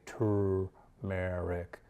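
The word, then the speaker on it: turmeric: thing shuts down again better not tumeric or that's the way i pronounce it but technically it's got an R in there and you probably say to Merrick and Ike you know you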